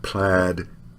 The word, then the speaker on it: plaid: made paid and braid but plaid and said have pronunciations that are irregular gains and names are